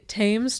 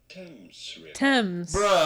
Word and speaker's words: Thames: wrote jesus okay um americanme wants to pronounce this thames t-h-a-m-e-s fames but i'm pretty sure if it has an h in there i would want to say names yeah should